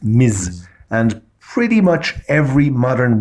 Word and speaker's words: Ms: the equivalent of mr it's pronounced miz and pretty much every